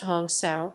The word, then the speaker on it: hansa: discrimination gaganda as a hansa or hansa pronounced hong sao is literally i am